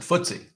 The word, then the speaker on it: FTSE: exchange i think but if you want to be cool you pronounce it footsie all world excluding us